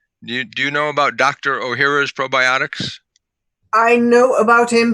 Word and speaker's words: Ohhira's: But the probiotic that my company imports from Japan is called Dr. O'Hara's, and that's spelled OHHIRA. And years ago, Dr.